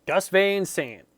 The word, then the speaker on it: Gus Van Sant: Gus Van Sant.